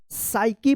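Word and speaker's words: psycho: पी यहाँ पे भी साइलेंट रहेगा। साइकी पढ़ेंगे।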